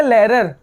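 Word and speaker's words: Lehrer: सर को हम German में कहते हैं देर लेरर there लेरर H silent हो जाएगा इसको क्या पढ़ा जाएगा लेरर नहीं पढ़ा जाएगा इसको पढ़ा जाएगा लेरर देर लेरर ठीक है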